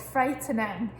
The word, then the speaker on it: frightening: Now this one as well is quite tricky because it actually sounds like there shouldn't be an E in there, but there is. So it's frightening.